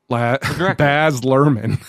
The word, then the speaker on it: Baz Luhrmann: Baz Luhrmann.